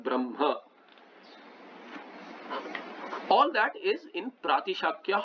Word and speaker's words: Brahma: Reason may or may not be there, but then you pronounce Brahma not as Brah Brahma, but Brahma.